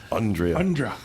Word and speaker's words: Andrea: Andrea Finger. It's Andrea. Andra.